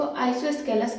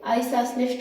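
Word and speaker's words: isosceles: इसे जो है मोस्टली जो है इसका सही प्रोनाउंसिएशन नहीं करते हैं और इसको आइसोस्केलस कहते हैं, लेकिन एक्चुअल में इसे आइसोसेलेस ट्रायंगल बोलते हैं।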